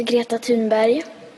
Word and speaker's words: Greta Thunberg: so I ask you how does Greta pronounce her own name my name is a guillotine body I am 50 my name is Agata tuned by okay that's how she pronounces her name and frankly I can't